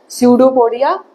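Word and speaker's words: pseudopodia: भी P silent है जैसे साइकोलॉजी में पी साइलेंट है ठीक है तो ये कैसे पढ़ा जाता है सूडो पडिया एस आप सोचोगे कि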